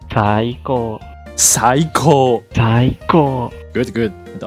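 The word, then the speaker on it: 最高: We say Saiko. Saiko. Saiko. Saiko. Good, good. The opposite word of Saiko is Saite. Saite. So repeat after me once again. Saite. Saite. Perfect. The best is Saiko.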